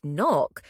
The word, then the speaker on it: knock: out loud for example in the word knock we don't pronounce the k it's completely silent this can happen with